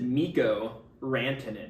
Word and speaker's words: Mikko Rantanen: But it's spelled Mikko Rantanen. This is Mikko Rantanen.